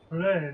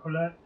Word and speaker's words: Colette: Colette, not Colette. Oh. I mispronounced it.